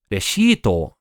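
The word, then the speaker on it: レシート: Reshito is how you say receipt in Japanese.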